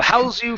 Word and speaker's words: house: house wasn't cramped good house with the z sound is a verb to house someone that that means to put someone in your house I will house you for the weekend house you okay okay with the unvoiced s s house that's the noun the normal one that everyone knows okay okay um your